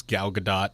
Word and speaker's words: Gal Gadot: to say I stand corrected and that is gal gadot I told you I mean you're also talking to the guy who used to pronounce it vin de sel not Vin Diesel